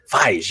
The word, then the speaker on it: Feige: of, like Star Wars, Mando and everything, Kevin Ferg. And so, or Fergie or whatever. Feige.